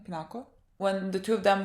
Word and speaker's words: Pinako: a flashback to when him and peanut pipinako pronounced her name pinako when the two of them were drinking but